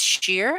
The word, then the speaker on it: Cher: Cher is pronounced as sheer.